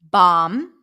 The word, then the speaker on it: bomb: in the following words the B is not pronounced bomb not bomb so when you have the MB spelling at the end you do not pronounce the b bum com